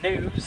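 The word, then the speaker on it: gnus: Wilderbeast are known as news. That's spelled G N U because of those grunting noise that they make.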